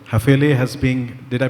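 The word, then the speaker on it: Häfele: Hafele has been, did I pronounce it correctly? Hafele? Like I said, we are flexible. You can call it Hafele.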